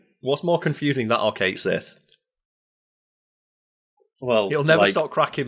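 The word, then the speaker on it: Cait Sith: a gayc thing right where it should be like C cat shei or something like that but then Square renx turned around and said no you we said it wrong we're going to commit to it being called Kate Sith it's okay Square sure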